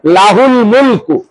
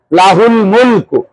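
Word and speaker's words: لَهُ الْمُلْكُ: শারিকালাহ মাশাল্লাহ অনেক হইছে লাহুল মুলকু লা মধ্যে টান হবে না লাহুল মুলকু লাহুল মুলকু লাহুল মুলকু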